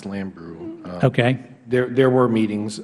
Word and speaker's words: Lambrew: meetings is it gene lambourn gene lamborn uh i believe her name is pronounced lambrew okay there there were